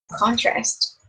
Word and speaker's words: contrast: Trong trường hợp này danh từ thì nó sẽ stress at the first syllable hay.